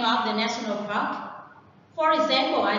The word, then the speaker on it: national park: National park is a noun and the stress is on the word park, not national.